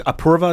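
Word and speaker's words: Apoorva: wife get involved uh is approva is how you pronounce her name she's a doctor uh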